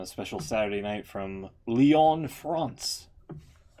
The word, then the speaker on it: Lyon: well I mean I I would pronounce it lion France but it's it's not it's it's Leon it's not lion yeah it is Leon